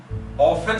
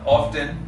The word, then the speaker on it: often: हमने OFTEN ऑफन सीखा था, यानी हमने टी को साइलेंट कर दिया था, लेकिन अब लोगों ने बोलना शुरू कर दिया ऑफ्टन।